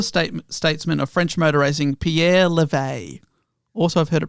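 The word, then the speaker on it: Pierre Levegh: of the elder state statesman of french motorizing pierre levay also i've heard it pronounced levesque but i will say pierre levay so observers were anticipating a tight contest between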